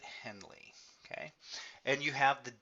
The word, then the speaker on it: Henle: what it's called and that's how you pronounce it Henley okay and you have